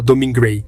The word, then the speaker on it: Domergue: E assim, a francesa Domergue virou a mais espanhola Domingray.